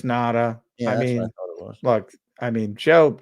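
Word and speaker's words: Ngata: I mean, Joe Nada, who's had or Nagata, I don't know how to pronounce that. Is it Nada? It's Nada.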